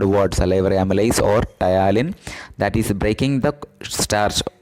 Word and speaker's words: ptyalin: And it having one more name, that is called ptyalin. What is ptyalin? Is the another name of salivary amylase, but it's not required, you can mention salivary amylase. Ptyalin spelling is PTY. P is silent actually.